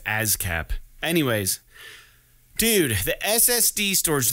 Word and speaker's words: ASCAP: ASCAP. It's like saying jazz, but you're not saying the J in front, so it makes it harder to pronounce.